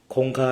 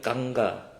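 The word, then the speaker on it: गंगा: แถว นั้น แล้ว บอก Where is the คงคา rivอร เขา ก็ แขก ก็ เริ่ม ทำ ตา เหลือง ๆ งง ๆ นะ โยม นะ เพราะ ว่า เขา เรียก กังก้า กังกะ ครับ กังก้า rิอร เออ เหมือน ไป ลมพินี อ่ะ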